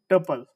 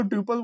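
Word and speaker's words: tuple: लेकिन अगर मैं देता हूं टपल। अब इसको टपल बोलो, ट्यूपल बोलो। जो आप लोगों को बोलना हो।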